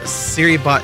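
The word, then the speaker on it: Serybot: It's pronounced like Siri.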